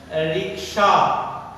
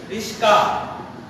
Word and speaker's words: রিকশা: আমরা অনেক সময় রিকশা, রিকশাকে উচ্চারণ করি রিস্কা, এটা আমরা অনেক কি করি, এই রিকশা এদিকে আয়, এই রিস্কা, ড্রাইভারকে আমরা ডাকি এই রিকশা অথবা এই রিস্কা।